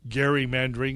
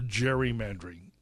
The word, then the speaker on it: gerrymandering: of our overall problem it is one of gerrymandering or gerrymandering which has three manifestations the first manifestation of our use of traditional pronunciation gerrymandering is typically the